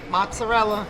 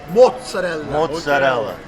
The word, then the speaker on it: mozzarella: you say correctly because a lot of people come in and say i want to make mozzarella let's go make mozzarella what do they say from connecticut mozzarella and how do you say it mozzarella so let's go you know what's up when you say mozzarella it even tastes better this was in